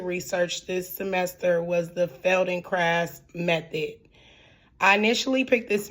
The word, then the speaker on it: Feldenkrais: But I now know that the proper way to pronounce it is fel and craft.